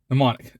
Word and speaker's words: mnemonic: root as the word mnemonic the m is silent in her bag her